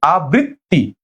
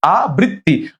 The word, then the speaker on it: আবৃত্তি: হবে আবৃত্তি আবৃত্তি মানে বৃ একবার যাবে আবৃ হবে না ডাবল ব হবে না একটা ব হবে আবৃত্তি বৃত্তি হ্যাঁ পরীক্ষায়